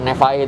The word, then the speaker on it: Nevaeh: Jadi cuman kata Nevae itu diambil dari heaven atau surga yang dibalik gitu. Bacanya kebalik.